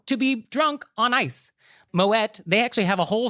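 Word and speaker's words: Moët: So you do say the T. It's Moet. He was Dutch. He wasn't French. So the correct pronunciation is Moet.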